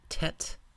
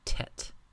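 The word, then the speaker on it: טית: the next letter is a Tet pronounced like the English T Tet the top of the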